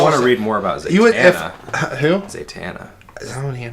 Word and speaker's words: Zatanna: I want to read more about Zatanna. Who? Zatanna. I don't even know who that is. Zatanna. Am I saying it wrong? My bad. No, you're good.